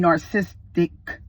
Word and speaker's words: narcissistic: Giving narcissistic injuries. Narcissistic. I didn't say narcissistic. There it go. Narcissistic. I ain't stopping this camera. Narcissistic. You got 4 syllables with that thing.